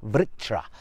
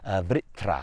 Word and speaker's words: Vritra: he slays the serpent vritra vitra I think it's pronounced but this is a